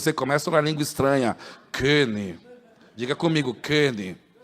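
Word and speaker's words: König: Kenny. Diga comigo, Kenny. Todos me chamam de Konig, mas a pronúncia é Kenny. Amém? Porque tem uma trema em cima do O.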